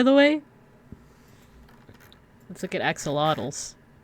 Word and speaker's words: axolotl: So that's why like axolotls, by the way. Let's look at axolotls. Axolotl. The same coworker told me that it's actually pronounced axolotl. So not axolotl, but axolotl.